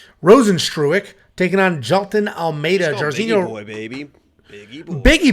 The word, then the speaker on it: Rozenstruik: have jarzinho Rosen stroke I say rosenstrupe but he just tweeted exactly how to pronounce it I think it's trueick yeah rosenstruick taking on jalton Almeida